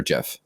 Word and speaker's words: GIF: But until then, there was an article that came out that the creator of it actually said that it was pronounced like the peanut butter GIF.